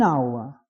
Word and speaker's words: hour: answer etc but an hour where H is not pronounced a university where you